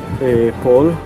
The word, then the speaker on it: pol: Pol. ¿Pol? Cabeza. Ah. Pol es cabeza.